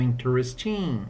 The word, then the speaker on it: interesting: Igual interesting, né? Não é interesting, sem força. Interesting, beleza?